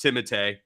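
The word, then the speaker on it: Timothée: good uh tim timotey chalamet and it is pronounced timothee i know it sounds pretentious as hell to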